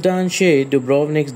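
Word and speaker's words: Danče: descends into the cliffs number three dance Beach pronounced Dan duik dance Beach is among the city's most magnificent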